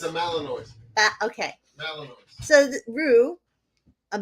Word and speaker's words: Malinois: Oh, it's a Malinois. Okay. Malinois. So Rue, a Malinois, saved his neighbors, quote, by alerting his owners to a fire next door.